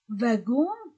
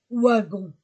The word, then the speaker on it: wagon: liaison les Ibou pluriel prononcer vagon vagon o comme va vagon non pas wagon wagon V chargé contraire